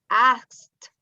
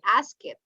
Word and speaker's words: asked: the pronunciation is planted asked you don't say i ask it no i asked it's like a t asked asked i see